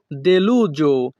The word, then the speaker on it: deluso: sembra molto deluso। এখানে SO এর উচ্চারণ হবে জো।